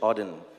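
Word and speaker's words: Auden: part of a poem from wh Odin that's how you pronounce it so I wish you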